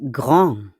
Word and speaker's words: grand: L'adjectif grand. Grand. On ne prononce pas le D, non?